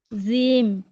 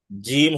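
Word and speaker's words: ج: জিম। জিম বলা যাবে না। জিম হচ্ছে শক্তভাবে উচ্চারণ করতে হবে, শক্তভাবে।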